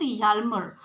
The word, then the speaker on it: Hjalmar: So you should not pronounce it in a wrong way. It should be pronounced Hjalmar. Okay, it's a German name.